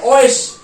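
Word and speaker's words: euch: तो अब इसकी देखो, इसकी साउंड जो आएगी, इसकी साउंड आएगी ओएश। ओएश का मतलब होता है यू। ठीक है, ओएश।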